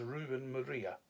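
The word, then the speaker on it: Ruben Moreira: And the main artist for all three of in the issues there, the main artist there was Ruben Maria. that's how you pronounce the man's name.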